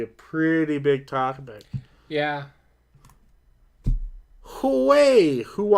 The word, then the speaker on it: Huawei: Craig says it's Huawei. So the H is silent. I think there's a little bit of pronunciation to the H, but it's almost silent. Huawei.